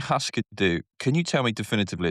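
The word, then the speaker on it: Hüsker Dü: their name from the correct Scandinavian pronunciation um is Huskadoo. Okay. like the way you pronounce it and given your proximity to Scand Scandinavian languages like I'm confident you're nailing the correct pronunciation. However, however, whenever I've heard the band name said by Americans, it's always Huskadoo.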